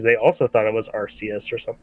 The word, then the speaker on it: Arceus: I used to say Arceus, and then I heard it was Arceus.